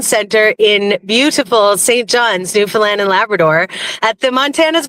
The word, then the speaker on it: Newfoundland: They have internet in Newfoundland? Just kidding. Oh, it's pronounced Newfoundland, Adam.